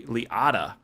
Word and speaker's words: Liotta: saying ray liotta wrong it's not a long o there's two t's because it's ray liada not that it makes